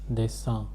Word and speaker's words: dessin: Tu na fais pas de dessin. This is pronounced as dessin, nasal sound for a.